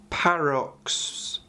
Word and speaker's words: paroxysm: It's paroxysm. I always call it paroism because the actual power itself reminds me of paralysing someone. So it's a Warp Charge 1 again, it's 24 inches, and it's a Malediction.